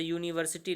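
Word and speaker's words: university: जैसे यूनिवर्सिटी लिखते हैं, यूनिवर्सिटी तो या से उच्चारण करते हैं, तो यहाँ पर आयन यूनिवर्सिटी लिख करके प्रॉब्लम दी जाती है, जबकि आ यूनिवर्सिटी लिखा जाएगा।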